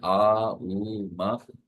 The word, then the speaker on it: ओम: 10 से 15 मिनट ओम अक्षर का उच्चारण जैसे हम चर्चा में लेते हैं आ उ म जिसम आपको टंग मूवमेंट नहीं है ओम अक्षर का